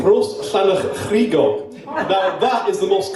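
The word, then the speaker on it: Rhosllannerchrugog: So it’s called Rhosllanerchrugog.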